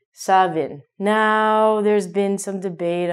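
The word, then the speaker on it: Samhain: Because it is a Celtic word, it looks like it should be San Heam, but it's actually Savin.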